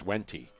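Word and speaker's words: Wente: It's Wenti. Remember, Robin, the Wenti winery's right there, the grapes? Yeah. How do you spell that?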